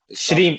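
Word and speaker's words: श्रीं: में काफी आसानी से श्रीम एस एच R double E एम श्रीम श्रीम श्रीम इतना ही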